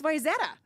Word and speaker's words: Wayzata: That's Wayzata.